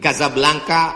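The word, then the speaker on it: Casablanca: kuliah nama negaranya Maroko ibukotanya tulisannya Caca blancha cara bacanya Kadzab langka Kaza artinya rumah Blanca artinya putih Kasablanka rumah warna putih bahasa Arabnya ada rollbox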